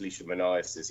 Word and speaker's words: leishmaniasis: But he definitely, George concluded that he had an actual disease, leishmaniasis. Am I pronouncing that correctly? Yeah, he calls it cutaneous leishmaniasis. He couldn't even pronounce it.